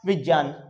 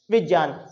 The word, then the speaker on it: विज्ञान: नहीं बेटा यहां पर ये जो गे है इसको ज और ऐ के योग तो आप खुद देखिए क्या इसमें ग का साउंड आ रहा है बिल्कुल नहीं तो इसका सही प्रोनाउंसिएशन जो होगा वो क्या हो जाएगा? विज्ञान।